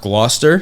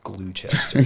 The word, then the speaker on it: Gloucester: of South Jersey uh I think it's pronounced Gloucester glester yeah I always thought when growing up I thought it was like glester or something cuz I'm an idiot my one friend once said glue Chester glue just an insane